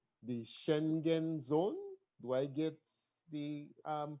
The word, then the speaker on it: Schengen: like ours somewhere in what is called the schengen zone do i get the pronunciation correct it's spelled s-c-h-e-n-g-e-n as well as